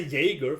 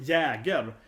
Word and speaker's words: Jäger: Oh, I say Jaeger for some reason, speaking English, but Jäger. It's a German name or a Swedish name, right? So it's pronounced Jag, the A sound, right?